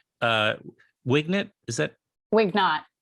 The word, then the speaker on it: Wignot: Is that Wignot? Wignot. Yeah. Okay. Well, there was only a couple of ways to pronounce it, and I was.